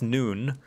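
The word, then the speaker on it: Nunh: are only two positions available breeding males noon pronounced noon and all others tia yeah so if you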